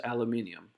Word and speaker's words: aluminium: Thank you for pronouncing that correctly. By the way, it is aluminium, at least in countries outside the US.